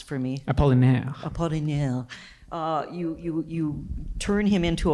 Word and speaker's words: Apollinaire: Is Gwyn pronounce for me. Apollinaire.